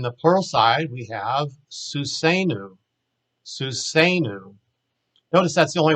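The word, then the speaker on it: סוּסֵנוּ: the accent marks, but Wine Green uses that to show you that the accent is on the A sounding syllable, susenu, susenu. But if you say it normal, it's just susenu, susenu. The point is it's not susenu or something like that.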